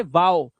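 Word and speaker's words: wow: लेकिन कुछ वर्ड्स में ओ डब्ल्यू को ओ से नहीं पढ़ते बल्कि ओ डब्ल्यू को औ से पढ़ते हैं। जैसे यहां पर देखो हाउ इसे हो नहीं पढ़ेंगे। इसे पढ़ते हैं हाउ। ये होते हैं एक्सेप्शनल केसेस। क्या पढ़ेंगे? हाउ नाओ। नो नहीं नाउ। इसी तरह से वाओ।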